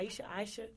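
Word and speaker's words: Ayesha: and know what's your name how you say pronounce AA Aisha Aisha Curry okay Stephen Curry's wife Steph Curry's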